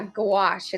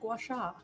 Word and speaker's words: gouache: Oh yeah, gouache. It's spelled like g o u a c h e. Gouache. I'd never heard of it before, but confused with gouacha.